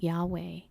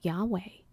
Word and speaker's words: Yahweh: do you actually pronounce Yahweh? And he pretty much said, Yahweh is the sound that we make when we inhale and exhale.